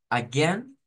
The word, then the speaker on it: again: de nuevo por favor la palabra Again es especial porque tiene dos pronunciaciones o dos formas de acentuar algunas personas la dirán como yo la estoy diciendo como un sonido como e aquí o sea una e así una e abierta Again Again Again Again y